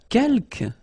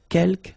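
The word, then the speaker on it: quelques: Uh, kelk. You don't pronounce the final s here. Keelk means few.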